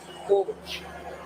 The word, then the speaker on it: bobo: So it's spelled COOK. Bobo. But when you hear it, it sounds like Bobo, like Bobo.